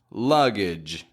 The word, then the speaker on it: luggage: g G sound however when a g is ending a word it's going to make a j j sound usually sometimes it'll make a